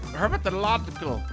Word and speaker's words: herpetological: Herpetological.